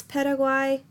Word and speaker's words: Paraguay: the Western Hemisphere now we have Paraguay also pronounce Paraguay it is the other